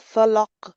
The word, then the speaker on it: الفلق: قل أعوذ برب الفلق من شر ما خلق ফলাক, কলকলা করতে হবে।